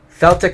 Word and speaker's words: Celtic: The Celtic invasion, the Celtic invasion. By the way, Celtic invasion can be pronounced Celtic or Celtic.